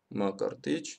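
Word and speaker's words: Мкртыч: Макрото-ичо, да, вот по сути вот такой набор согласных звуков, но поскольку в армянском есть такая полугласная э, которая после каждой согласной идет, имя читается как Макартыч, да, об этом есть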